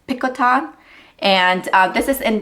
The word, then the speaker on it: Picotin: is the ATS Pon we call it the picotin but I think the French way to pronounce this is picon and uh this is